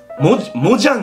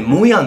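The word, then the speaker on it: Mojang: ヤン社、これモジャンじゃなくてモヤンって読むらしいですね。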